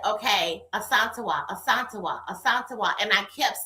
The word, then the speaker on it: Asantewa: So, like for example, it was this girl that went to school with me, and her name It's ASANTEWA, right?